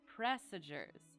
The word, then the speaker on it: presager: I was thinking presages and then passages, and I just could not get the pronunciation. Presagers.